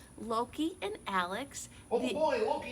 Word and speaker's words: Loki: By the way, his name is pronounced Loki, not Locky, like my sister says.